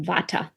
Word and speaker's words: Vata: one is called V here in the west we pronounce it Vata so V people are